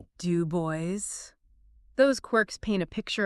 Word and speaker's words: Du Bois: He unfailingly insisted on being addressed as Dr. Dubo with the accent heavily on the last syllable. Dub Boys.